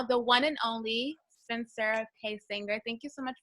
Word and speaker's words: Paysinger: my last name right a lot of people especially on the East Coast like to put the Z at pacing they're like Paige Inger and I'm like wow